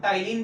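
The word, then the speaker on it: ptyalin: Amylase, जिसको कि हम टाइलिन भी बोलते हैं। पी साइलेंट होता है इसमें, PTYLINE, टाइलिन भी बोलते हैं।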